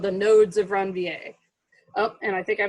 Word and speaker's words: Ranvier: called the nodes of ranvier around veer i'm actually not pronouncing the french way because i took french